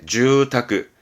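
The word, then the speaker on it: 住宅: 발음은 네, 주타크, 주택은 주타크.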